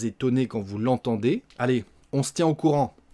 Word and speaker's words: on se tient au courant: se tient au courant, on mange le E encore une fois, on se tient au courant, on va la prononcer, on se tient au courant.